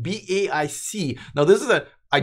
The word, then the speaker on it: BAIC: BAIC doesn't roll off the tongue, but if I like sound it out, it will say bake.